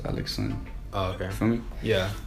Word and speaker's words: Alexandre: So it's pronounced Alexon, which is Alexandre in English. So D-R-E. Wait, is it spelled like A-L-E-X-S-O-N? No, L-A-X-A-N-D-R-E. Oh. Alexandre. But in French, it's just pronounced Alexon.